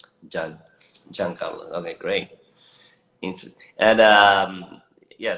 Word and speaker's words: Jean Carlos: Even though maybe it could have been Jean Carlos, right? But that's not the way that we pronounce it. It's always with a hard J, John. John. John Carlos.